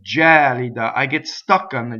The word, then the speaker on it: gelida: that kid jolly da it's not kid jolly de but kid jolly da I get stuck on